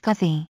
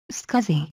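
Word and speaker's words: SCSI: that provides high performance data transfer between the scuzzy device and the other components of the computer scuzzy is pronounced scuzzy scuzzy in ics that is used in situations where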